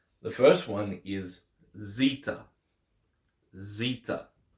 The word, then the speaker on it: Zeta: first one is Zeta Zita Zeta is pronounced as in pronounced with a zed sound as in zebra Zita Zita the next